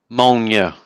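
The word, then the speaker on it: Mjölnir: Molnja. Molnure, which is in English Thor's hammer.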